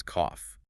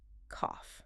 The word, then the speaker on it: cough: The word is cough. The spelling of this word is notoriously strange in English. It ends with the letters G H, but it is pronounced with an F sound. Cough.